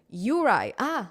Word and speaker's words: Yuri: No, it's pronounced as Yuri. Yuri. It's like Yuri. It's basically Russian name Yuri.